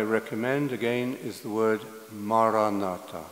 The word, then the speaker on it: Maranatha: And the word I recommend again is the word Maranatha. 네, 제가 추천하는 단어는 마라나타입니다. If you choose this word, say it as four syllables, ma, ra, na, ta.